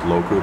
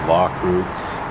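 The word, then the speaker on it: Loughcrew: mouth law crew uh i sometimes mispronounce that as loku but i believe it's actually pronounced law crew um newgrange is the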